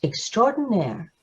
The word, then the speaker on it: extraordinaire: nair extraordinary and it means outstanding and it's pronounced extraordinaire story is written by j.w cola and illustrated